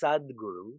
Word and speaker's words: Sadguru: But when you add Sat Guru, it's pronounced Sadguru, spelled Sadguru.